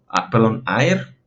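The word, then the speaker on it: ἀήρ: Recuerden la pronunciación, también identificar, perdón, aquí es normal, es un espíritu suave, por lo tanto no hay que hacer una aspiración, se pronuncia tal cual, aer y aeros.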